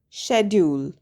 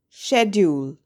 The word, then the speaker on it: schedule: Schedule. Schedule. Please note that schedule is the British English pronunciation of the word. It's pronounced differently in American English.